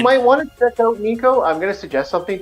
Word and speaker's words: Nico: N-I-C-O.